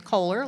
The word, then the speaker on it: Koehler: The first day I taught you how to say my name, which is Kohler, like the toilets.